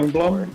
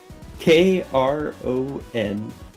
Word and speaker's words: Kronblom: Prongblom?